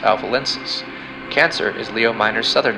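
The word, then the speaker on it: Alpha Lyncis: Gemini's brightest star is pronounced Polyleptus, and Lynx's brightest star is pronounced Alpha Lensis.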